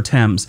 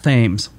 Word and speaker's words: Thames: 2012, the pageant for the Diamond Jubilee of Elizabeth II takes place on the River Thames. You know, I know how it's pronounced, but I will tell you right now, I tried to call it the River Thames.